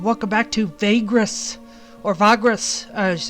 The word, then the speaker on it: Vagrus: welcome back to Vagrus, or Vagrus, as it's pronounced.